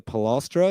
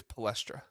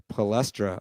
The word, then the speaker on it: Palestra: road especially at the pastra is that how you say that I think it's palestra palestra okay people from Pennsylvania are screaming at me right now that I mispronounce that um that's a that's